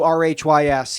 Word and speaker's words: Rhys: a peanut butter cup say it like a peanut butter cup so that guy Matthew Rhys he was the lead